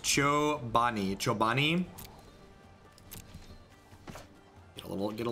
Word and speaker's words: Chobani: in upstate New York where Joe Benny is located it's pronounced Joe Bonnie Chobani a little get